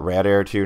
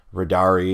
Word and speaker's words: radare2: it two different things I prefer to call it rad air 2 now because they're just red air because it's simpler to say radar e is actually three syllables but I used to